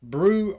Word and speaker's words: BRU: unit is bru and that's his nickname pronounced brew so um i was